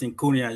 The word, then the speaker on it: Syncunia: I like the way you pronounce Syncunia. You got it right.